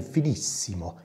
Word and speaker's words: Finissimo: I try to pronounce it a little bit Italian, Finissimo.